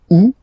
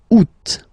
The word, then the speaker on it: août: And then here, two options, because, well, two options are acceptable in French. The first one, you don't pronounce the final T. Ou. Second one, you pronounce it août.